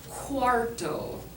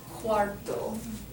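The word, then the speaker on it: cuarto: for a quarter um this word here is quto quto not to be confused with quatro which is the number four right it's different spelling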